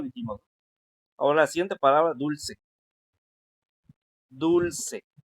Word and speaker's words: dulce: ¿Es dulce o es dulce? Ándale, es la penúltima.